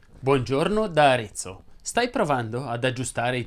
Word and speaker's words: Arezzo: Ovviamente non sono ad Arezzo, ma Arezzo si pronuncia con la E chiusa.